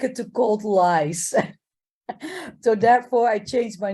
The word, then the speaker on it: Lies: well by trying to pronounce my name as I should be written in Dutch l-i-e-s and it would be lies and therefore I change it the moment I set foot in Dominica in l-i-s-e because I don't like